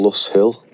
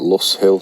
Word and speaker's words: Lose Hill: It goes over to a place called, I think it's called Luss Hill. It's spelt Lose Hill. I've seen videos of people pronouncing it Luss Hill or something like that anyway.